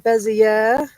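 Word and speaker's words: Béziers: 24 uh this one is coming in from bezier that's how you say it and it's a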